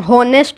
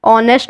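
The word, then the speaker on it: honest: वी यूज N when we pronounce silent H. यानी कि जिन जिन शब्दों में साइलेंट एच होता है शुरू में, उसके आगे हम एन लगाते हैं. जैसे एन ऑनेस्ट मैन. अब इसको हम होनेस्ट नहीं बोलते, इसको हम ऑनेस्ट बोलते हैं.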